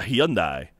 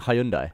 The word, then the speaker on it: Hyundai: Yeah, and I said, well, it's Hyundai in America. Yeah, but it's... Okay. And so? Yeah, it's just weird. It's just a weird mentality, isn't it? Well, when Hyundai pronounces it... When the company Hyundai pronounces it Hyundai in America and Hyundai in other countries...